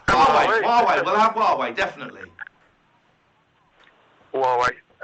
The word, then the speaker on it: Huawei: Who are we? Huawei. Did you just hang on? Did you just call them Who Are We? Yeah, well, it's hard to pronounce though. But I think it's Huawei.